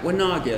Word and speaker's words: Wanagi: Wanagi.